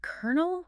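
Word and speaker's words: colonel: Was it kernel with those silent LS?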